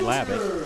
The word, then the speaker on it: Labatt: names to Coach, and he told me Labatt.